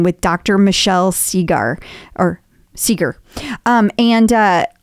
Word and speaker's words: Segar: dr michelle segar or seeger um and uh i don't know why i said cigar because it's bob seger and i feel like it's probably pronounced the same sure as bob seeker anyway dr michelle seeger